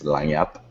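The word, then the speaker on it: Lagniappe: We were in Wynwood, Miami, at this restaurant, this wine bar called Lagnappe. You pronounce it in French, I believe. It's Lagnappe.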